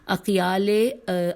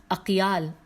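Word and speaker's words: أقيال: کہ اقیال اباحلہ کے وہ سردار کے جس کی ہمیشہ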